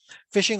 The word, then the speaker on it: phishing: fishing spam and fishing is the same thing fishing although it's spelled with feet uh p it's pronounced uh